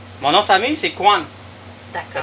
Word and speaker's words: Khuon: Mon nom de famille, c'est Kwan. D'accord. Ça s'écrit K-H-U-O-N.